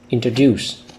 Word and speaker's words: introduce: So an advice I usually give my students is that you should read the word with a stronger stress on the third syllable.